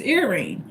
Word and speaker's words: Irene: But I understand in um some African languages and since Irene is a Greek name, the correct pronunciation is Irene.